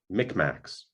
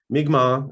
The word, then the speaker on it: Mi'kmaq: by the massachusetts tribe later they called us mcmax migma is now the preferred pronunciation it comes from our